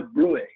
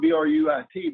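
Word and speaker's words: bruit: And this thrill that we feel, we can also hear, and we call it a brui. Now it's spelled B-R-U-I-T, but it's pronounced like B-R-U-Y, brui.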